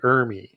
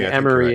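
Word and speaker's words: Ermey: Well, I think it's not to correct you, but I think it's Arlie Ermy. You kept saying Emery in the other episode. I've been mispronouncing that wrong.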